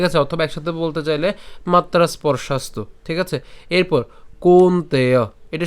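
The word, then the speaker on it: মাত্রাস্পর্শাস্তু: করে করছি মাত্রাস পর্ষাস্তু এখানে আমরা যেটা করলাম সেটা হচ্ছে এখানে যে দন্তস্য আছে দন্তস পর্যন্ত আমরা উচ্চারণ করছি মাত্রাস আর এখানে দন্তস যুক্ত প আছে ঠিক আছে স্পর্শাস্তু বলতে পারি কিন্তু ওটা করলে দেখা যাচ্ছে যে একটু কঠিন হয়ে যায় তো সেজন্য আমরা মাত্রাস অর্থাৎ দন্তস হস চিহ্ন পর্যন্ত উচ্চারণ করছি মাত্রাস এরপরে পরশাস্ত ঠিক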